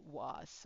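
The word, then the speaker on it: は: But if you say spring is beautiful, haru wa kirei. Okay, haru wa kirei. Okay, so this one is pronounced as ha, but this one is a it is a particle, so you have to do this wa.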